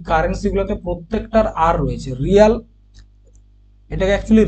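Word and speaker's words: real: currency কার কার রয়েছে রিয়াল রুবেল rupees রেমেনবি এবং রান প্রত্যেকের আর আছে দেখো ব্রিক্স কান্ট্রি রেগুলার এই কারেন্সি গুলোতে প্রত্যেকটার আর রয়েছে রিয়াল এটাকে একচুয়ালি রিয়াল নয় রিয়েল উচ্চারণ হবে রিয়েল ঠিক আছে উচ্চারণটা হবে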